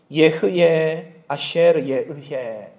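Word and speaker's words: אהיה אשר אהיה: 여러분 이것이 예흐에 아시르 예의 이렇게 발음합니다.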